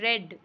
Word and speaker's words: read: For example नीचे आपने देखा क्या लिखा है, RED रेड, और इधर है READ रेड। ये यहाँ पर रीड हम इसको प्रोनाउंस करते हैं जब फर्स्ट फॉर्म होती